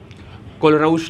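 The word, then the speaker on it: Kohlrausch: कुछ लोग तो उसको प्रोनाउंसिएट ही नहीं कर पाते हैं। कोलरऊस लॉ। चलो। देखो सबसे पहले कोलराउस लॉ जो है आपका वो आप स्ट्रांग इलेक्ट्रोलाइट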